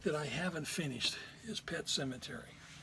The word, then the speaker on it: Pet Sematary: Now, the one book that I haven't finished is Pet Sematary. Pet Sematary, spelled with an S.